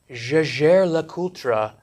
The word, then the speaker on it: Jaeger-LeCoultre: I know that JLC pronounces their name Jaeger-LeCoultre but with a frog in their throat.